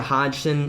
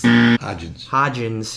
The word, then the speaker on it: Hodgins: we went back to wide receiver with Isaiah Hodgson Hudson's hodgins yeah Oregon State we had a hard names